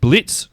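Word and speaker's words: Blitzø: So, this is based around Blitz. The O is silent.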